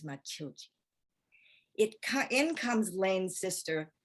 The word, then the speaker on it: Matilde: medicates matilda a machine matilda is the way the americans say it the brazilian way is machilchi it in comes lane's